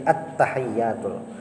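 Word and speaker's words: التحيات: Yang bisa tersalah itu amun kalajuan tasdidnya tahu hilang, tasdidnya hilang. Membacanya itu kayak ini. At-tahiyyatul. Nah, dikit bedanya, tapi tasdidnya tadi hilang. Inilah yang tasdidnya hilang ada. At-tahiyyatul. Nah, hilang tasdidnya.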